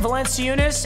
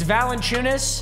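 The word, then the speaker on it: Valančiūnas: you're supposed to say i was saying valencia eunice it's valentine's you get the idea you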